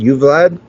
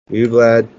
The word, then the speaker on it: Uvalde: Oh God, I don't even pretend to pronounce Uvalde. Uvalde.